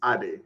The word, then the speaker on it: Ade: both foreign so the the first part is Ade so the two words combined together and the origin of